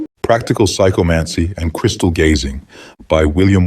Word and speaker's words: psychomancy: lesson one the nature of psychomancy the term psychomancy pronounced psychomancy is derived from two Greek words the